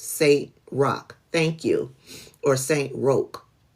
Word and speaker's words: Saint Roch: Oh, pronounced Saint Roch.